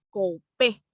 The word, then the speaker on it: coupé: Y además del lado derecho están los que son completamente planos, sin este tipo de borde o también llamado coupé, con acento en la E, ¿sale? Coupé.